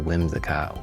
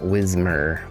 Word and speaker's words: Whimsicott: And then a new Whimsicott. Whim. Not Whismer.